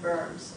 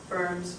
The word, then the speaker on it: Worms: It's just because they're German, you pronounce it as a V. Wittenberg was where he was a professor of theology and preached. Worms was where the trial